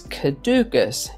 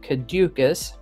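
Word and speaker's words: caducous: the end of the year today's word is cadukus it can also be pronounced kadukus not to be confused with caduceus cadukus is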